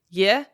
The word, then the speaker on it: Ye: She said the only character that was said wrong was yeah. It's pronounced kind of like yeah, but with more of the short E vowel like in bed.